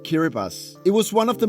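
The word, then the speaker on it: Kiribati: kittas well it's actually spelled kibati but it's pronounced kiribas it was one of the most scenic airport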